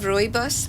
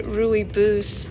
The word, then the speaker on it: rooibos: Have you heard of rooibos tea? It's like a tea from a bush. I actually have some in my tea chest. Oh, cool. Yeah, I saw someone say rooibos, like boo.